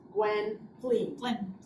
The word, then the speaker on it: Gwendolyn: Mistress Gwendolyn. Gwendolyn. Two syllables, it's Welsh.